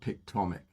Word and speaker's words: Pictomic: It is spelled pictomic like atomic with a pic.